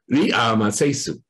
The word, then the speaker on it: Ramesses: But by the time you can really work out what the original pronunciation was, and so the pronunciation of Ramses was originally Ri-a-ma-se-su. So very different from Ramses.